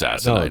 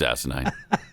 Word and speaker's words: asinine: no wait it's funny I said yeah it's asine is what I said I said it's asinine it rhymes with funny though Jeffy it's so close